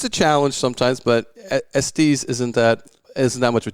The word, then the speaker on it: Estes: And I just found out I've been saying his name wrong for 20 plus years. It's Estes, and I always used to say Estes.